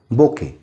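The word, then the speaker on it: bouquet: মানে হচ্ছে ফুলের তোরা বোকে বোকে স্পেলিং হচ্ছে বি ও ইউ কিউ ইউ ই T pronunciation টা কিন্তু পুরো বোকে বি ও ইউ কিউ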